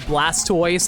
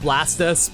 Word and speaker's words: Blastoise: Isn't it funny how everyone just agrees it's pronounced Blastoise and not Blastus because that's how Tortoise is pronounced?